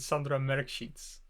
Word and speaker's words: Sandra Mrkšić: And I'm really hoping I'm pronouncing their names right. It's Lucija Mlačak and Sandra Mrkšić.